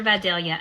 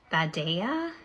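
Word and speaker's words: Vidalia: These are Videlia onion cups, which somebody told me, and I'm a Georgia native. Somebody said that it's actually pronounced vada. News to me.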